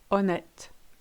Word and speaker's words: honnête: Good news, you ignore your H's in French. Hollandais, Henri, honnête, hérisson.